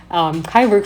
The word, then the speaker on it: Kyburg: The people of Kyburg, sounds like Cyborg, Kyburg founded the city, which received the so-called right of the city by Habsburgians in 1264.